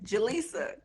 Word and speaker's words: Jalisa: me ask at least Jalisa is that how you pronounce it yeah okay Jalisa what kind of mother